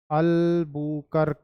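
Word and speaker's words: Albuquerque: अल्बकर्की, जो भी पढ़ लो आप इसको, ALBUQURQUE।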